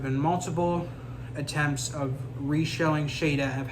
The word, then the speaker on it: Shada: season 17 in as the season finale called Shada or Shada as it's in the pronounced in Australia and um the UK was